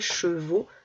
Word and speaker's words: chevaux: Alors après chevaux ne s'écrit pas E-A-U, il va s'écrire A-U, mais on entend O.